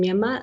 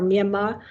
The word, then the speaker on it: Myanmar: bit earlier about our Myanmar. And so it's great to have this opportunity to discuss it. So I noticed that you don't pronounce the R at the end. Is that the correct pronunciation then?